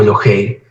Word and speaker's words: Elohey: está en estado constructo por eso aquí la palabra se lee elog o elohei porque es la misma